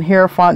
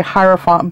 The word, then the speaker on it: hierophant: people correct me on herant they say I'm supposed to say hierophant but I I say hant because in Spanish I